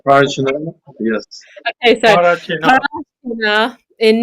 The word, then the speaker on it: Parachinar: So I don't know how to say it. Para. I'm from Parachinar.